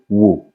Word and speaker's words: wò: Ordinarily, if you want to say look in Yoruba, you will say wò. But in sentence, it becomes wo.